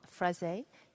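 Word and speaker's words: Freixe: Laurent Frezé, he told me the X is pronounced, and I've somehow still managed to go my version of French.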